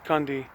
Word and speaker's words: Kunde: mine club member here it says kunder winer winery or you can pronounce as kandi and this is phenomenal